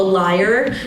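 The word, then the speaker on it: lyre: I get into this this is called a liar it is um what is it representative Santos favorite instrument I'm sorry it's not spelled l-i-a-r it's l-y-r-e so just I had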